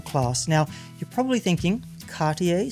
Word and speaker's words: Cartier: now you're probably thinking Cartier sounds fancy enough that I should pronounce it with a French accent even if mine is terrible and you'd be right but here's something unexpected Cartier's most iconic watch.